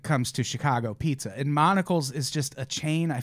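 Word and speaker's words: Monical's: it's a place called Monocle's. Monica's? It's Like Monica, a but with monocle, like a fancy man? Monica, but with an L at the end.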